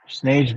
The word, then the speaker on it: snage: Snage better show the fuck up. He's not gonna show up like a real punk. Like snake, but spelled with a G.